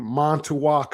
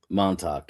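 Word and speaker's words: Montauk: So, let's talk about as you as you told me before we started recing, I was uh pronouncing Monttoak Island wrong. It's Monttoa. Monttok. Yeah, correct.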